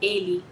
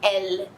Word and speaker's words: elle: Você não vai falar ele, você vai falar elle. Acho que deu pra entender, né? Essa ênfase no L.